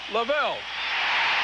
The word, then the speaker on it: Lavelle: it's a steady job I think Lavelle it rhymes with Laval you can call bank